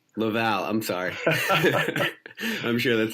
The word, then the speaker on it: Laval: for you people with your American accent it's pronounced Laval Laval I'm sorry I'm sure that's not gonna beat